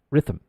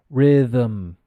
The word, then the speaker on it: rhythm: the so you'll say rhythm your your tongue uh what you're doing your tongue is correct however it's not riff rhythm the th is pronounced it's vocalized and becomes Rhythm the for example we